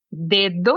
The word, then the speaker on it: dedo: Nosotros tenemos dedo en portugués, pero la segunda d es un poco más débil. Es dedo en castellano.